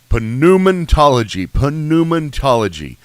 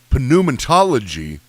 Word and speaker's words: pneumatology: What are you pronouncing the P for? You did. Back then, you pronounced the P. Whenever you're talking about from the Greek, they would pronounce the P. So pneuma, like if you had a pneumonia.